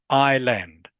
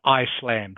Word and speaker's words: island: So, it's island. Island. Okay. Not not Iceland or is land, anything like that. Island is pronounced with a silent s.